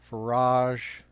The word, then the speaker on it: Farage: For nearly 30 years, Farage rhymes with barrage, has been the most influential British voice of what he calls the fight back, and his detractors call populism.